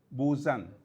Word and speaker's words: Busan: From spelling perspective, it is B-U-S-A-N, Busan, but the correct pronunciation is Busan, yeah?